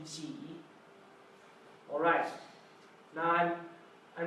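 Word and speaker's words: 几: Is pronounced G Mm-hmm. because it looks like pair of jeans.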